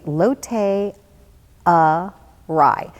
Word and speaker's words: Lotte Arai: at the lotte rai now the reason i have to say it funny like that is that it's spelled l ott and then ara I and I was like array or I or the whole week it's like wow and